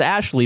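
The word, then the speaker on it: Ashliegh: Ashley, spelled a s h l i e g h, pronounced as Ashley before her husband stopped her.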